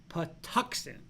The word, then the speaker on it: Patuxent: all right and kenny yes pronounced patuxent okay i did say patuxent i don't know what